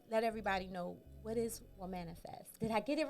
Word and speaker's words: Womanifest: so please um let everybody know what is what manifest did i get it right did i say